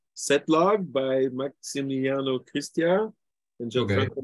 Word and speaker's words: {log}: be a language which I think is pronounced Setlog by Maximiliano Cristia and Gianfranco Rossi. Yeah, I'm here. Is that how you pronounce it? Yeah. Braislog or something? Setlog.